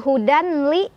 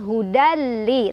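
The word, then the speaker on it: هُدًى لِّ: Cara bacanya, tanwin fathahnya leburkan atau masukkan ke huruf lam tanpa berdengung. Artinya nggak boleh ditahan dulu, cukup tekan aja. Hudali. Bukan hudanli, tapi hudali tekan.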